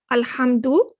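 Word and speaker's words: الحمد: this little sign here al hamdu see how you're pronouncing it because it's in the beginning but here you're not pronouncing it you're saying rabbil you're skipping the hamzatu wassel because it's in the middle this is a hamza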